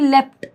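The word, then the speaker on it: leapt: पर है word लेप्ट अब देखो लेप्ट की स्पेलिंग होती है लीप या लीप यानी कि लेप्ट हम ऐसे बोलते हैं ठीक है दिस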